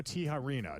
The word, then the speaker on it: Tijerina: of the county and your name is Tano Tiharena.